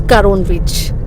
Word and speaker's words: Karon: Hema has been calling it Karona Beach for last 1 week. It's Karon Beach. I mean, we can't pronounce it.